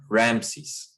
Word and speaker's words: Ramses: in Greek it was Ramses and that is how we pronounce it in English is from the Greek the Egyptian way of